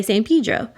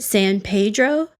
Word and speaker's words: San Pedro: los angeles and the people in san pedro say san pedro but much of the rest of los angeles pronounces it san pedro and this can cause issues for locals who like their town pronounced correctly those were their words